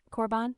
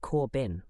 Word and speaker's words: Corban: Corban, like that? Yes, Miss Lopez. Some people, when they see my name, think it's pronounced Corbin or Corban.